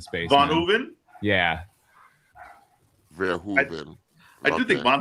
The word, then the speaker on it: Verhoeven: Wait, well, how do you pronounce his name? Verhoeven. What was I Still not saying? gonna get it. You were putting an N in the middle of it yesterday in the space.